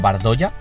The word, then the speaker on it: Bardolla: Alfio Bardola como Alfio Bardolla. O sea, realmente se escribe Alfio Bardolla, pero al ser italiano creo que se pronuncia Bardola.